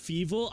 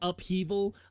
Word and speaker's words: upheaval: To be clear, when I'm saying evil, I am entirely around. Like, I'm well aware it's pronounced upheaval.